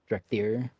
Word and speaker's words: Drakthir: Drakthir. You corrected me on pronunciation. Am I pronouncing that wrong still? Now it's right? Okay. Emphasis on the second syllable, right?